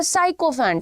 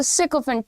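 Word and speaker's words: sycophant: इसको बहुत सारे लोग बोलते हैं साइकोफेंट। साइकोफेंट नहीं है इट्स अ सिकोफेंट।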